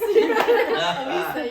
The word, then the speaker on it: Alica: Alica, yes.